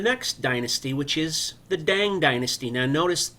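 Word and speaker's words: Tang: Dynasty which is the dang Dynasty now notice T is pronounced d at the beginning of words um D daong is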